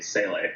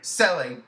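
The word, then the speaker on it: Seele: So apparently Sealy. Well, I don't know how to pronounce that. I say Sele. Sele, perfect. I like it.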